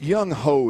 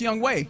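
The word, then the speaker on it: Younghoe: um boy and re you you threw it's young ho is the kicker by the way for Atlanta it is pronounced young way though is it really it is spelled young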